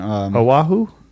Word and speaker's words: Oahu: Yeah, yelled don't at eat me alive on my pronunciation. Oahu?